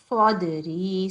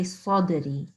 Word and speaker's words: صدري: The only thing I would say is Sadri. So this is Sad. It's not, here we go. Sad and then followed by Dal with Jazm on it. So this means that it is a Sad and followed by the Kalkala letter. So we need to say Sadri.